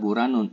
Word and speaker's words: Buranun: Nah, di sini kita bacanya adalah buranun, id-nya tidak dibaca.